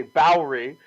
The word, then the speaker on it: Bowery: You don't have to add that extra syllable, really. I'd just say Bowery.